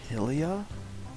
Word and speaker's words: Hylia: Ah, the Lake Hylia. Alright. Actually, it's pronounced Lake Hylia.